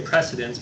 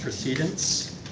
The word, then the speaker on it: precedence: We want to say precedence, but in Robert's rules, that's actually pronounced procedence.